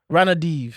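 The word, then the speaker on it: Ranadivé: I think it's Ranadiv. Ranadiv.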